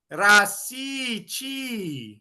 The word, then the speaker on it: Rasici: Like my last name is Italian. Okay. It's Rasici. Okay. In Mm-hmm. Italian, the I is pronounced like E. Rasici.